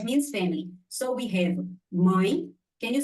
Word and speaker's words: mãe: It's M-A-E, my. Like in English, we pronounce my, M-Y. Yeah, mãe. Yeah, the sound is mãe.